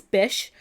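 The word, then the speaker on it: Bysshe: So, I was like, how on earth do I pronounce this? And none of my guesses were correct. So, it's it's Bish.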